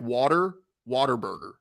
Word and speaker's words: Whataburger: don't even say Whataburger they say like w like water water Burger that's how they say it here w-a-t-e-r Whataburger uh but I went to